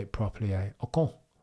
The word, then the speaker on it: Ocon: Ocon.